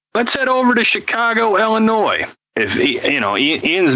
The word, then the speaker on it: Illinois: you knew that yeah you don't say the S it's Illinois not Illinois yeah or or as